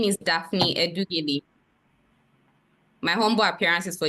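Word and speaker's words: Edughele: My name is Daphne Edugeli. My humble appearance is for the defendant, my lord. Daphne. Daphne is spelled D-A-P-H-N-E, my lord. Odugele. Edugele is spelled E-D-U-G-H-E-L-E, my lord.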